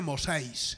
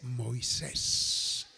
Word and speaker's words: Moisés: se dice haiga haya no se dice mosis se dice Moisés y así le fue